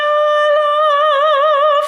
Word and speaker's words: alla: Alla, double L, so just try and linger on the L sound a little bit.